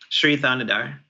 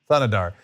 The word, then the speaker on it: Thanadar: It is interesting, though, whatever this, how do you pronounce his name? Sri Thanadar. Thanadar.